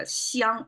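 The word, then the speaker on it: 香: but simplified, you can see, that means that pronounced as a xiang, it means the fragrance of food.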